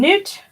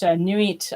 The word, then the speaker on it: Nut: And so, yes, and Newt, and of course we spell it N-U-T, but in thalamic practice, they say it Nuit, I think. They spell it N-U-I-T. But it's the same goddess.